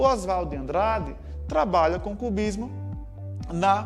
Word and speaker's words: Oswald: sobre sujeito osvaldo andrade preferia inclusive que o nome dele fosse pronunciado como se fosse a palavra osvaldo sem o ó em vez da pronúncia em inglês e com estrangeira oswald beleza então sempre a